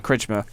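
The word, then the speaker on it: Krčmar: How do you pronounce his name? Kritschmer.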